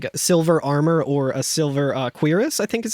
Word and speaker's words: cuirass: We do have a chest here as well that contains a silver armor or a silver cuirass, I think is how it's pronounced in Cuirass?